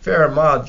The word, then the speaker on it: Fermat: guys can't say that fair Ahmad just doesn't sound right to me but that's the way you pronounce his name and again he was